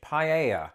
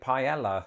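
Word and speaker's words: paella: of this would be the Spanish dish paa and notice how I said it there because that's not how I used to pronounce it when I lived in Britain and most people I knew pronounced it Pella the first time that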